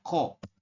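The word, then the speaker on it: 코: Jadi ini teman-teman bacanya langsung KH ditambah dengan O, jadi dibacanya ko.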